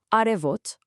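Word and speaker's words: արև: First up, the big one, the word for sun in Armenian is arev. Listen closely to the pronunciation.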